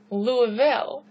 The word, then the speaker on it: Louisville: is in Kentucky, we always call it like Louisville. People will say Illinois. Okay, I don't know if that might be a northern thing to do, but that's not how they're pronounced. It's Illinois. It's Louisville, okay?